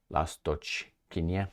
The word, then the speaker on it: Lastochkyne: the other one in uh this lasto Kya lasto Kenya that's how you pronounce it it's west of aiva I covered